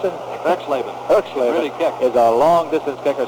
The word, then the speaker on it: Erxleben: How do you pronounce it? Erxleben.